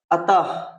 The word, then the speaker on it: अतः: तो याद रखना, ह की तरह, जैसे कि अतः, देखिए ह की तरह होता है कि नहीं, पुनः, ठीक है, तो याद रखना ये ह की तरह होता है।